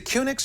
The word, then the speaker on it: QNX: used it for years is it cix or Q andx am I saying it right I've heard it both ways I'm not really sure um when I've talked to people from Q andx they that's they call it Q andx yeah I've never heard